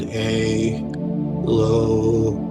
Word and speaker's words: Elohim: Now, for this one, we're going to vibrate the name Elohim and we're going to pronounce it a loheim.